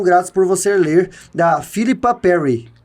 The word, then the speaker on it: Philipa: por você ler da Philipa Perry. É Filipa, né? É uma mulher.